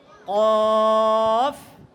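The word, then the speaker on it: كاف: উচ্চারণ হবে এটা কি হবে পাতলা উচ্চারণ কি বলতে হবে কাফ কাফ কাফ নয় তারপরেও কাফ বলা যাবে না কি কাফ আরো পাতলা কাফ কাফ কাফ কাফ কাফ কাফ ঠিক আছে এভাবে পাতলা করে উচ্চারণ করতে হবে এরপরেরটা দেখো লাম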